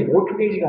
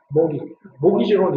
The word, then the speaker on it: mortgage: 자, it can cause us to more 이게 발음이 mortgage가 아니라 mortgage입니다. mortgage로는 이렇게 많이 하거든요.